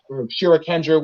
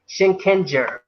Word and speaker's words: Shinkenger: Wait, maybe pronounce it for you. Shinkenger.